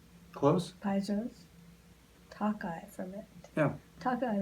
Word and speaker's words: Tokaj: Tokaj like Hawkeye Pierce. Like in Hawkeye Welsh. Pierce.